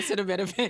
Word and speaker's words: acetaminophen: How do you pronounce it? I keep repeating it in my head. Acetaminophen. I've been saying acetaminophen.